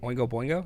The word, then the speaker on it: Oingo Boingo: that's the one who did the did I pronounce that right when we go Boingo yeah I think you got it dope oh